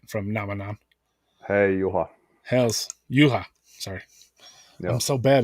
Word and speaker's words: Juha: that guy, well that's Jua from if I'm Ah, saying it right, from Namanan. hey, Juha. Hells Yuha.